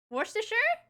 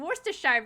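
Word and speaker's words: Worcestershire: was close warer sure I just kept saying Worster Shire before because I see sh at the end of it and still sure yeah we really shorten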